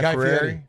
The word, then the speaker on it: Fieri: Guy Fieri?